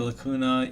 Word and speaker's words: lacuna: but yeah those pockets are called lacuna so it kind of like rhymes with like hakuna right like hakuna matata in there i'm not